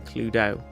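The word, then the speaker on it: Cluedo: So you can get Clue do the correct pronunciation Cludo and Ticket to Ride.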